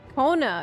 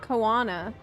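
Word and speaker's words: Koana: zeria the second promise owna Kona is how you say it it's not kanana well he has cool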